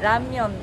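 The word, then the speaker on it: 라면: É que aqui a gente chama de lamen, mas na pronúncia mesmo é ramyeon.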